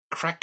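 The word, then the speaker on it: craic: one is this uh correct pronunciation and he told me crack house is crack house yeah it is the crack house it is a Irish word crack means be happy or like like marry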